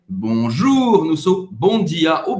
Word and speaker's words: bonjour: Presta atenção, o R você vai pronunciar, é gutural, você vai pronunciar em francês bonjour. Também não precisa exagerar, não precisa ser bonjour, não, tá? Bonjour é como se fosse o R de Roberta, tá?